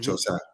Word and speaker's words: Joe Tsai: Ultimately, with the owner, Joe Tsai, is that how you pronounce his name, right? Mm-hmm. Joe Tsai.